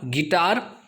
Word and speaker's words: guitar: आपको पता ही होगा गेस्ट का स्पेलिंग, गिटार का स्पेलिंग, बट कभी आपने क्या गौर किया है कि इसमें U जो है वो साइलेंट है?